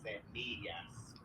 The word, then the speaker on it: semillas: The middle syllable. So instead of a, it's actually e. So it is semillas.